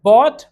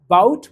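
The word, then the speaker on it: bought: टॉट, taut, taut नहीं, catch, cot, कॉट, काउट, काउट नहीं, बाय, बॉट, बॉट, बाउट, बाउट नहीं, fight, फॉट, फॉट, फाउट, फाउट नहीं। ये भी ध्यान देने वाली बात है कि इसमें UGH सब में साइलेंट है, उसको नहीं पढ़ना है, आपको सही पढ़ना है।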